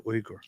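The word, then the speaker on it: Uygur: but that's not how it is it's actually uger some people pronounce it yog and they call him yogurt chunky yogurt we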